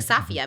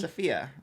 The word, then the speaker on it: Safiya: f i y a are you sure you're saying it right it sounds like safia maybe sfia oh I'm positive I'm pronouncing it right watching be wrong I very well it kind of sounds like Sapphire I once actually I just